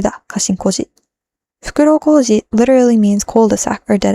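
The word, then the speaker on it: 袋小路: The word there is Fukuro Koji da, Kashin Koji. Fukuro Koji literally means cul-de-sac or dead end, but because it's pronounced Koji, which is the same as Koji's name, it becomes a pun.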